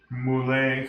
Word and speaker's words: moules: I always got this mules mulle cuz I guess the S is silent mulle Basque or bosqu B